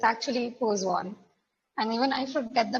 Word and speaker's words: Poisson: some people call it poon but it's actually poon and even I forget the pronunciation sometimes but I try to be true